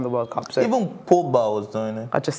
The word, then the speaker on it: Pogba: Pogba was doing it when they won the French World Cup. So the World Cup, when France won the World Cup. So even Pogba was doing it.